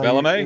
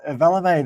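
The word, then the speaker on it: Valemei: I can't even pronounce this one. So Valame. It's Valame.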